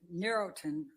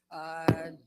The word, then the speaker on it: Neurontin: And if a Pharmacolo- person was taking 300 milligrams of Neurotin, I'm going to pronounce that wrong again. Neurontin.